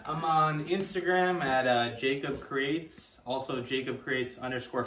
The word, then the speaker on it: Jakeb: i think it's just jacob which is spelled j-a-k-e-b so it's basically jake with a b at the end a lot of people